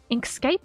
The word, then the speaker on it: Inkscape: Inkscape. So like landscape.